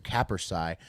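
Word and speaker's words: capercaillie: timeline and now I love it the Western capersai uh that's spelled very odd c-a-p-e-r-c-a-i-l-l-i-e and uh yes it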